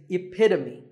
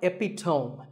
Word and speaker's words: epitome: example of something and the perfect pronunciation of that is epitome it's not epitome once again epitome of